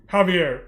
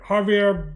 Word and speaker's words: Javier: It's spelled J A V I E Ravier. Javier. Javier Bardam.